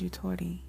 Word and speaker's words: yutori: seven deit moment so the word is utor it is spelled why u t o r i utor and it is a Japanese word it's a Japanese concept